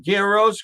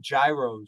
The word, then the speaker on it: gyros: It's spelled with a G. I call them gyros. Gyros, right? Yeah. If you ask the Greek guy, he's Greek, and there's no G, it's just a Y.